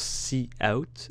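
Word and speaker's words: cout: STD c'est C out ça se prononce C out et pas coup ou je sais pas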